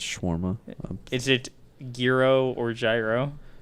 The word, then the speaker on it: gyro: Is it gyro or gyro? It's Euro, but I call it gyro. Gyro? Because that's how it's spelled in English.